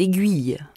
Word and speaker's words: aiguille: porc savez-vous aiguiser les aiguilles comme quoi on prononce le U dans aiguille mais pas dans aiguiser les hommes sont des